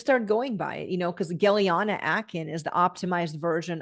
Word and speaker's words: Gellyahnah: Just start going by it, because Gellyahnah Aakhen is the optimized version of my birth name, which is Gellyahnah Aakhen.